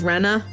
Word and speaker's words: Rena: dude cute uh I I believe Reina is the correct pronunciation that might just be that I talk funny because I do I I'm going based off of the new English dub pronunciation which is Rena Rana Rana Rana I think I guess Rena would probably be here to outside Japanese yeah it sounds like an air Serena yeah whatever I think